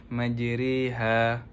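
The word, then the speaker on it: مجريها: Dalam hal ini cara membacanya adalah seperti kita mengucapkan vokal E pada kalimat atau pada kata sate. Jadi E, sate.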